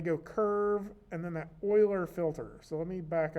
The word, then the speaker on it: Euler: the menu curves euler filter right there it's pronounced euler but it looks like euler eu ler when